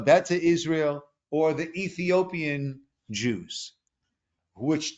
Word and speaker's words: Beta Israel: be focusing on what's known as the beta Israel pronounced bet beta Israel or the Ethiopian Jews